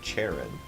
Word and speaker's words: Charon: If you say it the only way I think I can pronounce it, it sounds like Sharon. I mean, it's Charon.